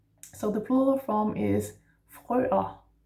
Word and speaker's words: frøer: So the plural form is frøer. Frøer. So F and the R in the throat, and then frø. The ER makes an A.